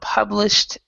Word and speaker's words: published: So this is a t here and the e is silent. So published to statistics.